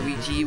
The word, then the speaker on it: Luigi: year cuz since it's the year of IGI or Luigi whichever way you want want to pronounce it I always pronounced it Ouija because I had Super